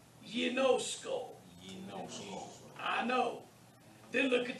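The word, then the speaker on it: γινώσκω: Ginosko. Notice the gamma followed by the iota is pronounced ye. It's soft. Ginosko.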